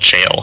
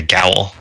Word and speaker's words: gaol: I went to Ireland and was schooled in it being called jail and not a gaol. I'm sorry, Gowl. Yeah, that's how it's spelled.